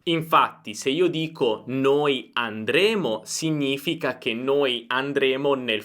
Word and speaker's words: andremmo: Infatti, se io dico noi andremo, significa che noi andremo nel futuro, invece noi andremmo è condizionale. Qui possiamo usare la stessa tecnica. Andremo, andremo, futuro, andremmo, andremmo, condizionale.